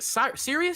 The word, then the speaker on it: Sirius: is it is it is it is it Sirus serious it's serious yeah okay so Sirius appearing